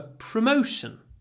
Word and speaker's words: promotion: for a promotion promotion here we have the o sound and sometimes when we say o like no there's a lot of w no go but before sh it's clipped so we get proot promotion promotion and we hold them up